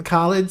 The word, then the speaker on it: Khalid: No, it is Khalid.